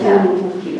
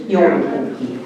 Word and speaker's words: joulupukki: That's joulupukki.